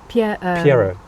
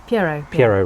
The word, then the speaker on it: Pierrot: Sorry, the original name, did I mispronounce it? What's the original name? Pierrot. Pierrot.